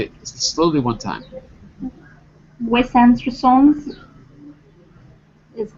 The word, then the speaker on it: Wes Anderson: The stress is on and, make it big, and therefore the other vowels are basically swallowed.